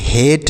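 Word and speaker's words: hate: ये हो गया बेस अगला है एच एटी इसे पढ़ेंगे हेट एच एटी हेट पढ़ेंगे तो बेक फेक लेट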